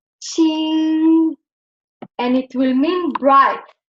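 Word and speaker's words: 清: But with the radical for water, this Qing will get the first tone, and it will be pronounced Qing, and it will mean bright, clean, because it has water, right?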